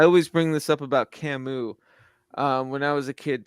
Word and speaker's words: Camus: his name to me that's just how I read it was canvas and I got so shamed uh it's Camus like